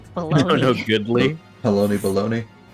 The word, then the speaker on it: Halone: Side note, I would just like to say that it is not pronounced Holone. People are just stupid and want to say it, but it is Halon. Yeah. There is no accent over the E.